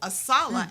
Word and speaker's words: ASALH: And so ASALA, as we pronounce our acronym, Yes, ma'am.